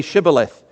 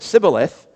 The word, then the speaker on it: Shibboleth: If he replied no, they said, "All right, say Shibboleth." If he said Sibboleth, because he could not pronounce the word correctly, they seized him and killed him at the fords of the Jordan.